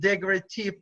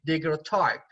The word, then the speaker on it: daguerreotype: So daguerreotype means that because his name was Daguerre, so he called it daguerreotype, or in English daguerreotype. In French it's daguerreotype, in English daguerreotype.